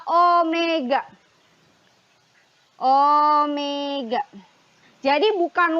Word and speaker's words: Omega: atau simbolnya adalah ini ini dibacanya adalah Omega Omega Jadi bukan W